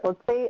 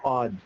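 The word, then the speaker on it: Odze: and it's pronounced the odds like odds and ends okay thank you for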